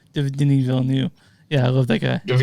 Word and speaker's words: Denis Villeneuve: Denis Villeneuve, is that how you pronounce that correctly? Denis Villeneuve.